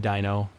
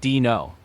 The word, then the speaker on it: Dino: He squinted at the paper and said, "You're hired, Dino." He pronounced it dino. "It's actually dino," I told him. Like dinosaur.